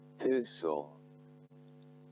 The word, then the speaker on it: thistle: So quickly, let's move on to some of the examples where S, T, L, E are present and then they are silent.